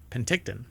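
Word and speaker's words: Penticton: telescope located in pent is it pent how do you pronounce that Penton uh BC or P Penton Penton there you go I guess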